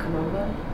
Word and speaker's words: Kom Ombo: Is that how you pronounce it? Yeah, Kom Ombo.